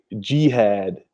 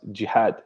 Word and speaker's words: jihad: of the word it's like like they say G had but actually supposed to be pronounced jihad yeah so it's just the way Americans pronounce